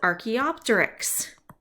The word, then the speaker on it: archaeopteryx: two species are called transitional forms okay so archaeopteryx there you go that is the correct pronunciation of this right here archaeopteryx fossil is